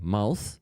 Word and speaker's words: mouth: mouse mouse mouse Uh Aziza, you say it right. The first time you say mouth and then you start saying then you start saying it wrong. So you always say it right. So just keep saying it mouth.